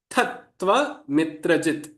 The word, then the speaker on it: तत्त्वमित्रजित्: The actual split is to amitrajit, but for the sake of pronunciation, as I aid to pronunciation, split this as Tattva mitrajit. Tattva mitrajit.